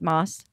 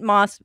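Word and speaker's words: Mosse: not read that book it's Kate Moss m-o-s-s-e so it's a little different very different so that e changes everything okay good because yeah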